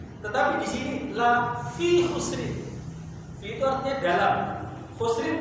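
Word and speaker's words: خُسْرٍ: Ketika Allah Subhanahu wa taala mengatakan lafi khusrin, khusrin di sini tidak pakai alif lam, tetapi pakai tanwin, khusrin.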